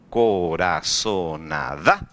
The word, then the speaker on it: corazonada: palabra corazonada el falo corazonada como que falló esa palabra digo corazonada dónde estaba mayor intensidad de voz de esa palabra está la última sílaba yo digo corazonada sea